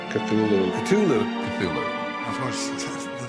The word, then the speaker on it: Cthulhu: And so finally, in a letter of 1934, he tells a colleague, well, it's really meant to be 2 syllables.